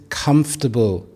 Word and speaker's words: comfortable: This is comfortable. There are three syllables. Comfortable rather than pronouncing it as comfortable.